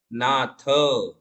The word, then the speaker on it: नाथ: नाथ में थ थाली वाला है, तो उसका ही उच्चारण होगा। त तलवार वाला अलग है और थ थाली वाला अलग है। नाथ, है ना।